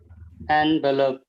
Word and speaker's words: envelope: envelope envelope envelope envelope anvelope yes that's the pronunciation anvelope okay okay next T